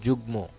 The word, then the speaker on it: যুগ্ম: পদ্ব দেওয়া আছে এরপর ম ফলা কিছু ক্ষেত্রে ম ফলায় ম এর উচ্চারণ বজায় থাকে। যেমন যুগ্ম দেখছো যুগ্মতে কিন্তু আত্মীয়তে কিন্তু আত্মীয়র ম ফালাটা উচ্চারণ হয় নাই।